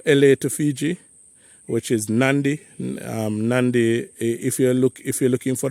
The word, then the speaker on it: Nadi: So you go LA to Fiji, which is Nandi. Nandi, if you're looking for the word Nandi, it's not spelled Nandi. It's Nadi. But the locals there pronounce their D's as Nd.